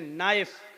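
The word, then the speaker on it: knife: जैसे इंग्लिश में नाइफ किसको कहते हैं, चाकू को। नाइफ के माना चाकू, लेकिन के लिखा जाता है, बोला नहीं जाता, वो साइलेंट रहता है।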